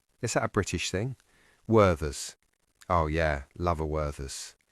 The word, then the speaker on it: Werther's: I pronounce the th in Werther's with a th sound. But did you notice that Danny used a v instead?